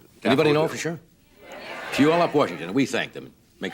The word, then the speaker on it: Puyallup: Puyallup, I believe it's pronounced, right? Yes, it is. Anybody know for sure? Puyallup, Washington.